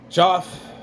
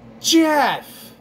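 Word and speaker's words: Geoff: And now, all these years later, we meet our hero, Joff, with the stable boy. Okay. This bugged the hell out of me. It's not Joff. It's Jeff. I'm sorry. You're saying it wrong.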